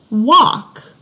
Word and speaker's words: walk: The L doesn't make a sound. We don't say alk, we say awk. Okay, and an example of this was a sight word we just had, walk.